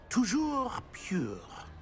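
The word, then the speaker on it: toujours: Tojour.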